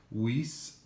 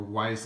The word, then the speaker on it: Weiss: And as you can see here today, we're taking a look at the Weiss, or Weiss I believe is actually how you pronounce it, Weiss Watch Standard Issue Field Watch, black dial.